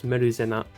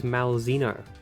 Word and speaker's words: Malzeno: And, well, in Japanese it's Meruzena, but in English this is Malzeno.